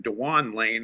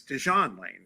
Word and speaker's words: Dewan: this week, that uh I've been calling him Dewan Lane and apparently because that's how it's spelled, but he's Desawn Lane, right?